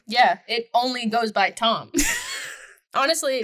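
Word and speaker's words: Ptom: I would name him Tom, but P-T-O-M. This is making me because up. pterodactyl is spelled with a P. Tom with a P, like P-T-O-M. Yeah, because pterodactyl is spelled with a You P. should put a P at the end, too. P-T-O-M-P. Tom. The P's are silent.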